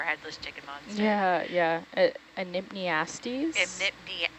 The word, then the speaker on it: Enypniastes: Can you help me pronounce the scientific name for headless chicken monster? Yeah, yeah. Enypniastes. Enypniastes.